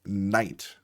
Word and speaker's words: night: In the word night, for example, um you know what is saying I in night? Well, the ig gh n i g ht i is spelled i gh in this word.